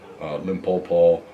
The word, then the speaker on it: Limpopo: I've got a bunch of shows up in this region, Limpopo, Gauteng province. How do I pronounce that?